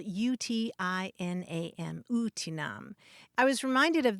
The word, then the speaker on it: utinam: it means basically would that or if only it's spelled UTI n a m utinam i was reminded of that when we